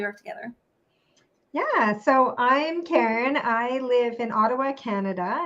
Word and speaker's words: Keren: crime Karen Karen you know your name is spelled k-e-r-e-n right so it's Karen not Karen and it is it so I